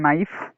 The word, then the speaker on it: knife: First one, knife. You have to pronounce it knife, don't pronounce it knife.